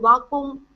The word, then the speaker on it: vacuum: Now the U's that are here, it's a EU sound.